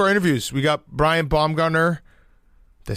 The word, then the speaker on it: Baumgartner: We got Brian Bombgunner. Did they say it right at that time? Bombgartner.